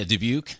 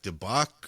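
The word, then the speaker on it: Dubuque: Is that how you pronounce it? Yeah, Debuke. I didn't know if it was like Debbuck or You never know.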